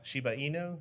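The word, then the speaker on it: Shiba Inu: right guys and they've also heard about sheba shibainu is that how you say it yes in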